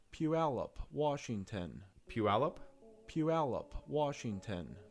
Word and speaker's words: Puyallup: How to pronounce Puyallup, Washington. Puyallup? Puyallup, Washington. Puyallup.